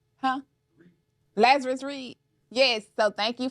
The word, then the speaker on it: Lazarus: LZ do you mind I say your name Lazarus huh Lazarus Reed yes so thank you for definitely coming